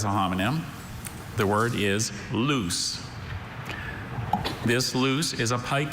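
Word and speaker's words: luce: Are there any alternate pronunciations? Just the one, loose. Loose. Loose. Loose. Can you repeat the word, please? Loose. Loose. Loose.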